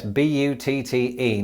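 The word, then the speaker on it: butte: you can't do so easily with this yes b u tte now before I go any further it's probably important in the interest of not being demonetized that I point out that this word is pronounced but and it's probably quite an appropriate pronunciation because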